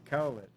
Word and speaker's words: Cowlitz: The tribe is Cowlitz. Cowlitz. Cowlitz.